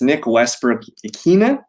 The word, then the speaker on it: Nick Westbrook-Ikhine: wide receiver position, yeah, it's Nick Westbrook-Ikhine. I believe that's how it's been being pronounced.